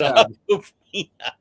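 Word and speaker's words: Awkwafina: It's Aquafina.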